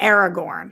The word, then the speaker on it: Aragorn: don't know now I try to really say Aragorn yeah now you say it right now I try yeah yeah uh Christian unpronouncable hey Roxy are the Royal rejects going